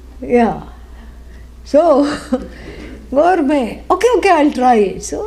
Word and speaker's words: gourmet: Incidentally, it is spelled gourmet, but it is a French word. Yeah. So, gourmet.